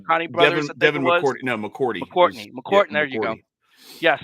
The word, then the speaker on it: McCourty: McCartney, I'm not sure if I can pronounce their names correctly. McCartney brothers. Devin McCourty. No, McCourty.